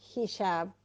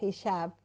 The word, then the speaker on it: hijab: La filosofía detrás de lo que comúnmente se llama hijab o hijab, depende cómo pronuncies la J, nosotros le decimos hijab, Es una vestimenta islámica